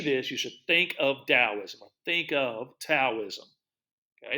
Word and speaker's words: Taoism: Oh, it is not pronounced the way it's spelled. I say it sometimes the way it's spelled just because that helps me remember how it's spelled. And it could actually be spelled in two ways. It could also be spelled with a D. So we like to say Taoism.